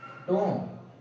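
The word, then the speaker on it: tomb: अब यहाँ पे m के बाद भी आया है, हर जगह पे m के बाद भी आया है, तो b को प्रोनाउंस नहीं करेंगे। इसका सही प्रोनाउंसिएशन होगा क्लाइंब, डम, टोम, बॉम्ब, लिम।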